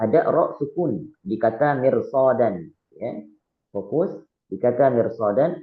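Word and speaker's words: مرصادا: Bukan mirsod, mirsodan, bukan. Tapi bacanya mirsodan, mirsodan, mirsodan.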